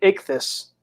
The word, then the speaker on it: Ichthy: and also they also know how to pronounce my name correctly too because a few people are now struggling to even say my name even when they watch my show I I don't understand I didn't have plenty commercial breaks on my first channel saying ik this for quite a few